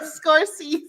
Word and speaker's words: Scorsese: My life is like a movie, and I feel like Martin Scorsese. Am I saying it right? Help me out. Yeah. Scorsese.